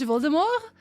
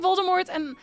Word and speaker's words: Voldemort: Originally, it was supposed to be pronounced like the French Voldemort, but pop culture can't hold. So, Voldemort becames became Voldemort. I won't attempt to spell Dutch Dstra.